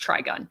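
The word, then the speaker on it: Trigun: or just spelled weird it is pronounced tri-gun so it is trigonometry interesting interesting um also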